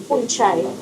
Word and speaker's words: Unchai: Unchai. It is Unchai. Unchai. Okay. Not unchai. Not unchai. Un is with warm.